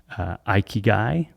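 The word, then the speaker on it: 生き甲斐: I believe it's pronounced ikigai, but the word means the intersection of those four things.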